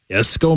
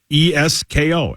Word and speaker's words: Esko: But yeah, Cory Persich, the defensive back from Esko, Minnesota, will be here.